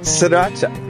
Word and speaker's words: Sriracha: Sriracha.